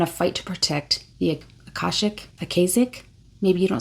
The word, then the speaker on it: Akashic: Akashic. So, I I did say that at some point. So, a like father, ca like car, and then shik like sick but with an h.